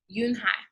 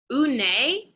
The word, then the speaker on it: Unhei: corrected it's spelled u u-n-h-e-i it's pronounc it's pronounced unite yoon hai oh it's you hey the boy said like